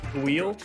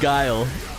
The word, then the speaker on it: Guile: is pronounce his name the wheel i don't know that's my new favorite thing in the world oh is that not how you pronounce this it's guile guile he's a street fighter